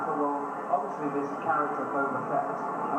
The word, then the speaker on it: Boba Fett: And I thought, well, obviously this character, Boba Fett, and I couldn't pronounce his name, it was like Boba Feet, I kept calling him.